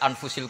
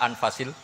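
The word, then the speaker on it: أنفس: kalau sekarang di sini ditulis anfussil kutub selalu saya baca anfasil karena maknanya kitab terbaik kalau kitab terbaik bacanya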